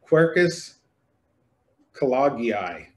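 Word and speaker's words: Quercus kelloggii: Holland or somebody, but I believe this tree is called Quercus collagii. Is that right? All right, so I said it right.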